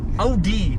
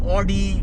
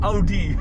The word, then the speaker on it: Audi: Yeah, Audi, not Audi. Please don't mispronounce it, guys. This is Audi. It's pronounced Audi.